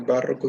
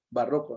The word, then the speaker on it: barroco: una mezcla de barroco barroco no barroco porque para que fuera barroco tendría que ser una palabra esdrújula debes darte la barra pero como no lleva tilde y termina en una vocal entonces si no está tildado entendemos que es una palabra grave entonces va rock ya el barroco español